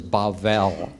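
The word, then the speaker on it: בבל: say Babel the Americans say Babel and the actual Hebrew word is bavel uh transliterated as Babel and so we don't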